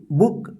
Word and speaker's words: book: ठीक है, अब यहां पे देखिए LOOK, लुक। TOOK, टुक। BOOK, बुक। GOOD, good. यानी यहां पे जो है ना छोटा ओ का उच्चारण हो रहा है।